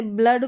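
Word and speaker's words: blood: ठीक है, इस तरीके से जैसे ब्लड, फ्लड में उच्चारण है डबल ओ का।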